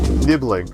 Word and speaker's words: nibbling: Nibbling.